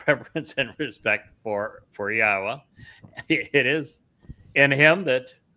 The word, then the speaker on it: Yahowah: We uh are the first to prove that it is pronounced Yahwa. Did the research to do so and have written about it and having respect for Yahwa is essential and it is the only way